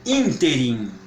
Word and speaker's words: ínterim: exemplos só de parar de proparoxítona Boémia e ínterim Boêmia interi as palavras proparoxítonas são mais simples de identificar quanto a pronúncia porque tô como você já sabe em